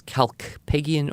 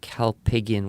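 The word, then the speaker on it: Kalpakgian: It's Greek, and it's Calpagian or Calpagian with a silent K.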